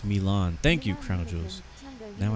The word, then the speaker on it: Milan: Holding short runway 17 It's pronounced Milan.